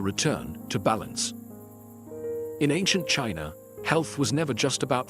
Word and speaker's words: qi: In ancient China, health was never just about flesh and bone. It was about energy. The invisible, vital force called qi, pronounced chi, flowed through every living being.